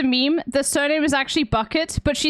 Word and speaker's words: Bucket: The surname is actually Bucket, but she says on the phone in the series, it's pronounced Bouquet. It's pronounced Bouquet because she's keeping up appearances.